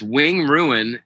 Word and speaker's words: Wing Ruin: It's what's the true name for Wind Ruin, Wing Run, Wing Ruin? It's Wing Ruin, and I don't remember where I got that, honestly.